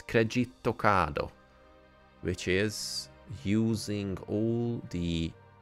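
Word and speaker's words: クレジットカード: So instead of credit card, in Japanese it's kredito kado, which is using all the present kanas to make up a word pretty similar to the original one.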